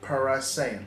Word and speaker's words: Parasayan: Irfan Parasayan. Parasayan. It's like saying Saiyan, but Saiyan.